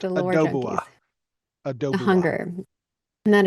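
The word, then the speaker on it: Oudoubua: For the for the It's pronounced Adoba. Adobe. The hunger. And that is the Titan Kraken. Um, somebody said Adobe.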